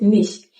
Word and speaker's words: nicht: Don't pronounce the T. Ich glaube nicht, dass kommt. Ich glaube nicht, dass kommt. So you simply need to cut off the T softly, but don't overdo it.